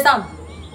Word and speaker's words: Psalm: How will you pronounce this one? Pronounce it. You say Sam. So as I say Sam. Did you hear P inside? Did you hear P inside? Brothers and sisters, they silence P.